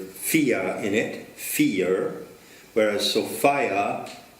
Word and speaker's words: Sophia: But of course, Sophia, which has the word fia in it, fear, whereas Sophia rhymes with desire.